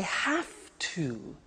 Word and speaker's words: have to: I have to. Notice I don't say V, I say F.